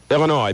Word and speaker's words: Illinois: sure are real good Illinois please do not pronounce the s new state motos Indiana